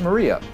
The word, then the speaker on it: Maria: Her name is written, of course, is pronounced Maria.